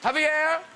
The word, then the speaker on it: Javier: Now, Javier... Pronounced correctly?